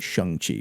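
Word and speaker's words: Shang-Chi: that was the whole you have to pronounce it shung Chi or no like that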